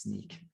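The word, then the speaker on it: Snyk: idea that's what it stood for and it's pronounced sneak all right all right thanks for that canonical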